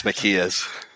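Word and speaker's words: Mekies: Mackay's? I think it's Makia's.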